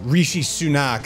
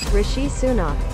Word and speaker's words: Rishi Sunak: is something that the current prime minister uh Rishi sunak I believe that's how you pronounced his name Rishi sunak Rishi he introduced this idea that hey look